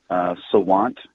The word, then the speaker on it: Sawant: Give me a little more on this and what your city council, whose name I can never pronounce, is saying. The council member's name is Kshama Sawant. And Sawant, that's she, right, Sawant.